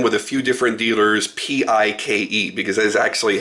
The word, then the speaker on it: Paik: now and then with a few different dealers P-I-K-E, because that is actually how it's pronounced.